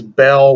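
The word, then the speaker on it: Beall: name you know honestly my name is belle with b-e-a-l-l as a spelling you need to get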